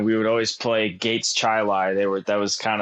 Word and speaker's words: Chili: and is it pronounced that way it is pronounced chili and I'm about 20 minutes away like I'm